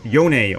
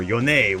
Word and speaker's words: Yone: Number 2 mid-lane ban is Yone, or Yon, or Yone, whatever way you want to pronounce it.